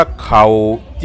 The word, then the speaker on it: เข่าจี่: ว่า เข่า จี ครับ คำ ว่า เข่า จี ออก เสียง ว่า เข่า จี เข่า นี่ ก็ คือ ข้าว นี่ ครับ จี กับ ปิ้ง ย่าง นี่ แหละ นะ ครับ เข่า